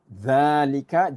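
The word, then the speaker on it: ذلك: Okay, so just take note, dhalika is pronounced dhalika, just like hadha is pronounced as hadha. Okay, even though it's not written. Okay, the alif is not written, it is still pronounced as dhalika.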